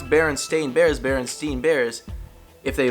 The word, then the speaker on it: Berenstain: everyone is freaking out because it's actually not pronounced the way that we all thought it was a classic book called the berenstain bears now if I'm saying that it sounds